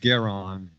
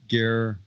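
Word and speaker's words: Goreng: It's not Garon, but it's Gorang.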